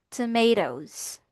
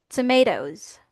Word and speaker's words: tomatoes: Kaya naman ang ang pronunciation natin dito is tomatoes. Tomatoes.